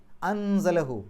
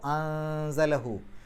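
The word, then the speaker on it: أنزله: പാരായണം അവിടെ നിർത്തേണ്ടത് അംറുല്ലാഹി അൻസലഹു സായിന്റെ മുമ്പ് സുക്കൂനെ നൂൻ വന്നു ആ സുക്കൂന നൂനിനെ ഇഹ്ഫാസ് ചെയ്യണം മറച്ചുവെച്ചുകൊണ്ട് മണിക്കണം അപ്പൊ അൻസലഹു അൻസലഹു എന്നുള്ളിടത്ത് വന്നു ആ ഹാഉമീറിന്റെ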